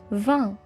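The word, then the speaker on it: vingt: Notez bien que les lettres G et T à la fin ne se prononcent pas. Ce sont des lettres muettes. 20.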